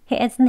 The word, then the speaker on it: isn't: isn't 이렇게이어서 하진 않습니다 isn't here이가 아니고 isn't here isn't 하는 소리 여기서 하는 멈춤이 살짝 들어가야 발음이 맞습니다 그러면 의 과거 is